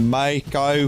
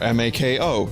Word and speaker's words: Mako: where 2d is singing he goes when the mai kai flies all right i'll say it when the